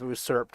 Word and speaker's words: usurp: It is spelled with a U, but I did not know the sound U is used in it rather than oo.